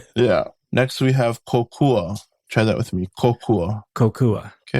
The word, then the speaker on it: kokua: Next we have kokua.